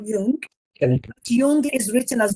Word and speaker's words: Jung: really love his work his name is k Yung Jung is written as J Kung j j n g but it's pronounced y k he's the founder of modern